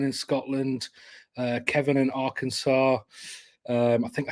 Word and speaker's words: Arkansas: Scotland Uh Kevin in Arkansas um I think I said that right I'm from England uh it's got an S at the end doesn't it but it's not doesn't you don't pronounce that s um right uh we